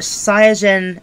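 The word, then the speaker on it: サイヤ人: guys probably know but seijin is Saiyan and Japanese so people call sands Saiyans they're pronouncing at the Japanese way which is technically the correct way um yeah I like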